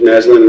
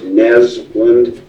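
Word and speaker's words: Naslund: video good morning Mr naslin my name's and it's pronounced nesland yes sir okay and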